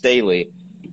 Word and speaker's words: Staehle: It's actually pronounced Staehle. It's actually a very unusual way to pronounce a name that's from, I guess, a German name. I think what happened was when people came here for World War II, they altered the name because the whole World War II stigma. And so even when I asked Germans pronounce it differently than Staehle.